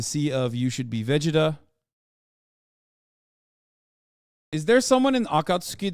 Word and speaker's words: Vegeta: character in Akatsuki that that yes I said Vegeta that's the right way to say it I